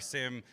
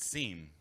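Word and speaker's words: SIEM: All right, we were going to ask them who pronounces it seam. Who says seam? Raise your hand. Raise your hand if you're wrong.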